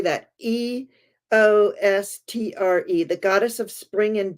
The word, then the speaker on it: Eostre: Eostre, the goddess of spring and dawn.